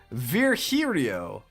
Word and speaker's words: Virgilio: but virgilio came back oh not this guy again this guy stinks oh brother this guy stinks you look winded virgilia what's up it's pronounced Verio ver herio okay now I'm pretty sure